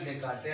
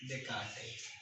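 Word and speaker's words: Descartes: S silent रहता है तो रेने डेस्कार्टेस आप इसको पढ़ते हैं। ठीक है, रेने डेस्कार्टेस।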